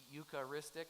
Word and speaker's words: Eucharistic: I think it's because we use the ukar ristic four syllables that's a big word